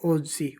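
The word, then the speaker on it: oggi: एक नोट लगा कर बात याद रखना, जब दो जी एक साथ आ जाए यानी डबल जी का उच्चारण आई तथा ई से पहले ज की तरह होता है। जैसे ओजी, ओजी यानी आज।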